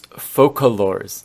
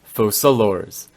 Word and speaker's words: Focalors: It's focalors, not fosalors. In fact, it was also focalors in the original Chinese, not to mention both Japanese and Korean too, so once again, it's a localization issue from English.